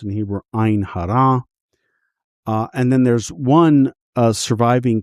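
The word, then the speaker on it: עין הרע: against the evil eye, or as it is pronounced in Hebrew, Ein Hara.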